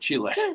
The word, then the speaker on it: Chile: I've been to Chile and they pronounce it Chile.